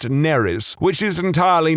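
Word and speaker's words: Nerys: exactly the same as a Welsh name, which is pronounced Neris, which is entirely not what I was going for.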